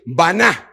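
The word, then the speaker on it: בנה: edificó un altar es una palabra que se escribe baná, con B grande y H al final.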